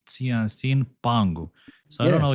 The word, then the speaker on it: Qianxin: I don't know how to pronounce this, Costin. What's the name of the company? Qianxin Qianxin?